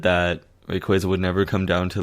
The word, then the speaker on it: Rayquaza: Rayquaza. Because I pronounce it that way because quasars.